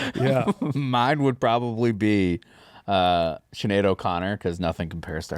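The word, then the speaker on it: Sinéad: Speaking of weird spellings, her name is spelled Sine with a little accent mark AD, and it's Sinead. Yeah.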